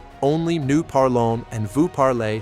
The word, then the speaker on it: parle: For je, tu, il, elle, ils, and elle forms, the verb sounds the same, even though it's spelled differently. Je parle, tu parles, il parle, il parle. Je parle, tu parles, il parle, il parle. They all sound like parle.